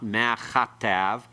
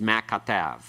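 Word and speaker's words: מה כתב: It's not ma chatav. It's not a aspirated form of the kaf. It's a hard form. It's ma katav. All right? Ma katav. It's pronounced as one word. The accent is on tav. Last syllable here. Ma katav. All right? Ma katav. Not mac attack.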